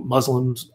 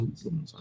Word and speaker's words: Muslim: it pronounced Muslims or Muslims? Well, I mean, in America, we generally say Muslims. The actual way we Muslims say is Muslim, so, but it's never said that way in America, so I'll go with either.